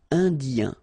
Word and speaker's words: Indien: Indien. L'océan Indien. L'océan Arctique. Remember, tic, ic. La mer du Nord. Final D, not pronounced.